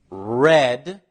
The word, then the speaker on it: read: pronounced differently listen read read read in the simple past and the past participle it is pronounced exactly like the color red let's see some more